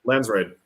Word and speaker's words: Landsraad: I want to say It's D. D. Landsraad. Landsraad. Wait, Yeah. however you want to pronounce it. Are we going with D?